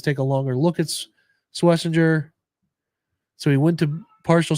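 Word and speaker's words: Schwesinger: So Schweisinger grew up um Schweisinger by the way to pronounce that. Swissinger got the pronunciation guide in place. Carson Swessinger for everybody out there.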